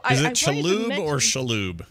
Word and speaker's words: Shalhoub: Yeah, she said Shaloub though, like chalupa. Shaloub. Yeah. Oh. Like a chalupa.